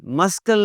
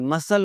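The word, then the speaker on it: muscle: Discipline, मस्कल नहीं होता जी, मसल होता है।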